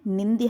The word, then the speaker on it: निंद्य: आधा दा और पूरा या मिलकर क्या बनता है? द्या बनता है। ध्यान रखिएगा, निंद इसका प्रोनाउंसिएशन है। अर्थात स्तुति का विलोम क्या है? स्तुति का विलोम क्या है? निंद्य है।